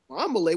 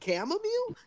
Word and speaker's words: chamomile: And we were sitting there like, Chwambale, what is he talking about? Come on, And then Shane. it hit me 2 minutes later, like, dude, you fucking mean chamomile? And he's like, oh, that's how you say it?